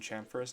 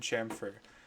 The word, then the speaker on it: chamfer: So the correct pronunciation is fillet and chamfer. I hear a lot of people in, especially lower years, call these like a fillet and a chamfer and all these kind of wacky names.